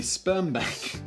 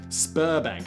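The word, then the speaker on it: Sberbank: cards around is the Sperm Bank. Sorry, Spurbank. I think it's a Russian bank. They have it here in the Czech Republic. Um, and it it you it's spelled like sperm bank except it's not quite.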